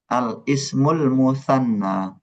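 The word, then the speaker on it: الاسم المثنى: Al ismul mutsanna ada alnya semua. atau ismun mussannan.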